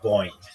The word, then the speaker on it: Boeing: to B um Prime Boeing will just be boing just boing one syllable boing like boing boing boing boing boing but that's how some people say it anyway and I have